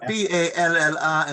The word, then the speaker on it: Balla: You've got Balla in Mayo, which is Bal.